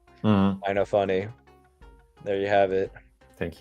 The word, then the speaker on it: Innofunni: I say Innofunni, like that.